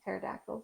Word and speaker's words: pterodactyl: short of I mean pterodactyls I guess right why why can't you hear a pterodactyl go to the bathroom be because the pee is silent yeah oh gr so